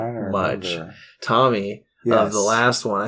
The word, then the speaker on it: Thom: he's Tom Matthews and that's Tom with a silent h so th th th Matthews th Matthew I thought it was th but are you sure it's th I think it's still pronounced Tom yeah okay Thomas thas